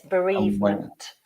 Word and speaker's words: bereavement: Yes, bereavement. So this is one time where we actually do pronounce all of the word in English. Okay. Unusually. But bereavement, I mean, here